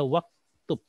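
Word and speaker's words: وَاكْتُبْ: Aslinya uktub, tapi karena ada waw kita baca waktub. Waktub ya. Aslinya adalah wa uktub. Ya, kenapa enggak dibaca u-nya? Karena itu hamzah wasol.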